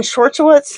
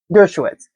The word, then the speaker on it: Dershowitz: Is Spirit, is Alan Schwartzowitz, how do you say his name? Dershowitz.